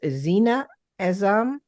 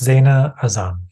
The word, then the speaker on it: Zaina Azam: It's Zena Azam. Close. Zaina Azam.